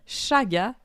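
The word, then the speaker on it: Chaga: café qu'on vous recommande aujourd'hui ça vient de Shaga café Boréal Shaga ça s'écrit C H a g A mais comme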